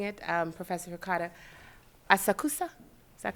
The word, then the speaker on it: Asakusa: And then correct me if I'm mispronouncing it, Professor Hikata, Asakusa? Is that correct? Asakusa.